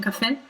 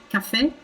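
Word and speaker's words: caffè: that makes sense um i'm going to repeat the word in french and in italian so that you can hear the difference cafe cafe so in italian we really linger on that f sound because we have two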